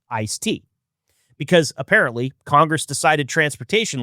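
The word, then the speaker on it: ISTEA: And the answer arrived in 1991 through the Intermoal Surface Transportation Efficiency Act, usually called ISTa or pronounced ice tea, because apparently Congress decided transportation legislation needed a refreshing beverage.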